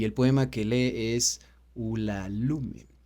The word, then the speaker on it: Ulalume: poema que lee es ulalume Okay ulalume ul lum también se puede pronunciar que cuenta básicamente una